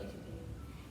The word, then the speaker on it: échappé: How do you spell échappé?